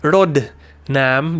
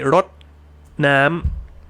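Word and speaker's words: รดน้ำ: So you wouldn't say like rot nam or rod nam, you would say rot nam.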